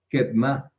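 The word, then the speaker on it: קֵדְמָה: Pero para decir hacia adelante le agregamos la hey al final, que es la hey amegamá, y queda Kedma. Kedma.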